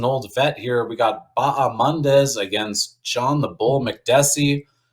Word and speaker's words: Bahamondes: Well, firstly, I give you a lot of credit for pronouncing Ignacio Bahamondes' name correctly, because I know everyone's going with the Baja. The H is silent, so respect, my friend, for putting in that work.